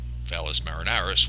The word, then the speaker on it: Valles Marineris: which is Valis called valles marineris which they pronounce the s it's very confusing anyway